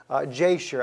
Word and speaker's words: Jasher: are written in the book of Jasher, I think is the way that you would pronounce it in the English language. Yashar is how we say it in Hebrew.